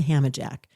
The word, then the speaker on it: Hammajack: I am noticing you're wearing a HammerJack t-shirt today.